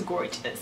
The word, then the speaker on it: Gorgius: for sponsoring today's video i think it's how you pronounce it it's spelled gorgeous but i i pretty i'm pretty sure it's gorgeous which so fitting right